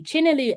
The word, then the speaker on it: Chinyelu: read it for you it says Asha let's pronounce her name properly China Liu Asha joins fifth Pro Global player Council and